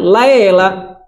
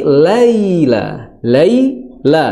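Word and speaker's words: الليل: Jangan sampai adik-adik dan semua pemirsa, ya, Niaga TV yang dirahmati Allah Subhanahu wa taala membacanya dengan laila, dirubah jadi imalah, waja'alnal laila, ya. Tapi laila seperti itu, Nah, ini perlu diperhatikan.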